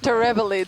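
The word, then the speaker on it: terebellid: that how you pronounce it? Terebelid Terebelid.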